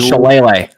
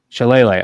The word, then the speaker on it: Shillelagh: Now, Ryan, can you help me pronounce, what's the name of the trophy? How do you say that? The Jeweled Shillelagh. Shillelagh.